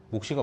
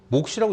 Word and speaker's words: 몫이: 근데 몫이라고 하면 틀리나? 목이 온다고 해야 맞나? 몫시가 맞아. 그래 학교에서도 그렇게 해. 학교는 가니? 방학이니까 안 가나? 몫시라고 읽는게 맞아.